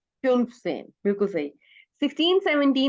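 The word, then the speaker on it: fünfzehn: फन सेन। फ्यून सेन, बिल्कुल सही।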